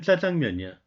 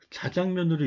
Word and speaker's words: 자장면: 최근에는 이제 표준어로 인정이 됐지만 예를 들어 짜장면 그러면 예전에는 자장면 이렇게 썼어요. 읽을 땐 짜장면이야. 자장면. 아나운서들은 자장면으로 읽으려고 노력을 하더라고요.